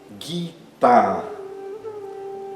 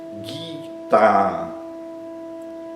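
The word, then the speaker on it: गीता: Guita. Guitar significa canção, cântico, né? Por exemplo, no nome de uma obra bem conhecida, pagava guita, né? Então, tanto i quanto a são longos.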